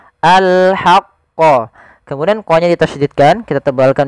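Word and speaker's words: الْحَقَّ: huruf ha kecil yaitu kita mengeluarkan dari tengah tenggorokan kita ha disertai dengan adanya nafas maka alhaqqo. Alhaqqo.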